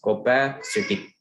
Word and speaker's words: copacetic: The pronunciation of this is copacetic.